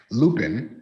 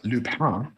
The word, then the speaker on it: Lupin: No, I'll pronounce it in the if you just read it way, Lupin, Lupin. If you are fancy, it's Lupin because it's French.